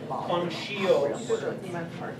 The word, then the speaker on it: conscios: It's a SH. Conscios.